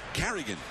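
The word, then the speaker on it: Carignan: And by the way, we double-checked the name of the new Oakland pitcher is pronounced Carrigan. He's one of those guys with a silent N. So Carrigan on the hill for the Athletics.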